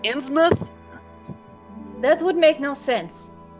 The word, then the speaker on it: Innsmouth: pronounced Innsmouth.